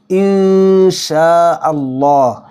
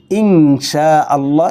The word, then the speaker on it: ইনশাআল্লাহ: মারাত্মক লেভেলের একটা ভুল এখানে নুন সাকিনের পরে সিন এসেছে এজন্য হবে এটা ঠিক আছে ইনশাআল্লাহ কিন্তু কখনোই অনুস্বার উচ্চারণ করে ইনশাআল্লাহ এরকম বলা যাবে না